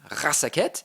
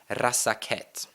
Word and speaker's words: Razaketh: So when I pronounce and say the Magic the Gathering name Razaketh, you can clearly hear that I accidentally have a syllable in there.